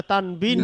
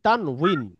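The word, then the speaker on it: تنوين: সাথে তানভন বলে থাকি এর আরবি সঠিক উচ্চারণ হচ্ছে তানউন তান কিন্তু এটাকে বাংলায় লিখতে গিয়ে আমরা তানবিন লিখেছি উইন জি তানউইন তথা দুই পেশ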